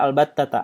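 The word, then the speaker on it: البتة: Nah, ini dibaca albattata. Albattata itu isim fi'il. Nah, kalau isim fi'il itu sesuai dengan tulisannya, dia itu tidak bisa berubah atau mabni.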